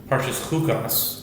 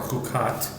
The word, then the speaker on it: Chukat: And they both mention the same idea, that in this week's Parshas Chukas, or Chukat, depending on your pronunciation, it spans 38 years.